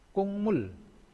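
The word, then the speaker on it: 국물: Ini kukmul. Tulisannya kukmul, bacanya kungmul.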